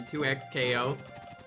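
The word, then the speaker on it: 2XKO: Riot Games say it's said as it's spelled, so literally 2x KO.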